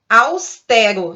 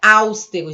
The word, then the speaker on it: austero: Nós temos uma palavra que é paroxítona, pronunciada com E aberto, austero, e o som aí está nessa segunda sílaba.